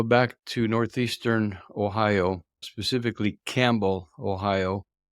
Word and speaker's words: Campbell: to Northeastern Ohio specifically Campbell Ohio it's spelled like the soup pronounced like the animal it's a Tiny Town